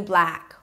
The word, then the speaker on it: black: A B and an L, bl, and then the as in cat, blah. Drop your jaw so it doesn't sound like blick or bluck. Blah, ah. Push your tongue forward, the lips pull to the sides a bit, and close it with a K.